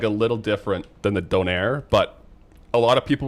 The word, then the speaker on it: donair: It's the menu item is it's it's also not even donor. It's spelled like this. In Canada, it's it's donaire.